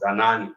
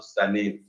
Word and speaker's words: Zanani: That is called Zanani, not Zanin.